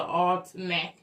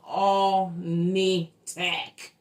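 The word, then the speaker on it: Alnitak: We I mispronounced this name of this planet. Okay. I call it all snack. The name of the damn planet is all nitac. Damn near close, but it's all nitac.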